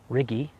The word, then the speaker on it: Riggi: Marilyn Ballinger playing against Roy Riggi rhymes with piggy I'm told and his partner Katherine McGregor